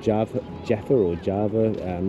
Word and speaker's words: Java: like jav Jaffer or Java um what the locals pronounce it Jaffa but you know like my uh spelling is Java but like the Javanese or the Japanese call it Jaffa so I did find